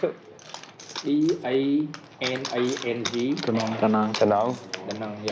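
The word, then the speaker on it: Đà Nẵng: How do you pronounce it? EANANG. Da Nang.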